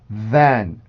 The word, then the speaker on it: than: 근데 원래 정확한 발음 기호는 에 발음입니다.